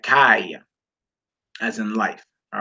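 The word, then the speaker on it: חי: You pronounce that kai, as in life. All right, kai, as in life.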